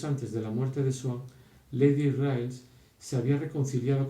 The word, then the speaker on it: Swann: que tenía que decir, habría pronunciado Svan en lugar de Swan. Cambio que, como se dio cuenta poco más tarde, era peyorativo, porque convertía ese nombre de origen inglés en un nombre alemán.